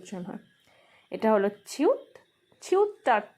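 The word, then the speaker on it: 치읓: তারপর আসে জিউত, জিউতটা জ বা জি এর মতো উচ্চারণ হয়, কখনো কখনো জে এর মতো উচ্চারণ হয়। এটা হলো ছিউত, ছিউতটা ছ বা সি এইচ এর মতো উচ্চারণ হয়।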